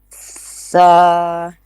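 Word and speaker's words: ث: Tip of the tongue will touch at the edge of the upper front two teeth like in sa.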